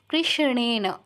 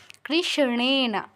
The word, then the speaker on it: কৃষ্ণেন: দেবী শাশ্বত ভক্তিয়া সাদাম্বিকে কৃষ্ণেন যুক্তাক্ষরটা ভাঙলে পাচ্ছি মূর্ধন্যস হসন্ত যোগ মূর্ধন্য তো উচ্চারণটা মূর্ধায় হবে মূর্ধন্য উচ্চারণটা কিন্তু দন্তন্যর মত করলে হবে না বাংলায় যেমন কৃষ্ণ বলি ওরকম করলে চলবে না কৃষ্ণেনা কৃষ্ণেনা সংস্তুতে দেবী শাশ্বত